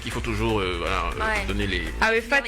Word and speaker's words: AEPHAT: Arifat, ça s'écrit A-E-P-H-A-T.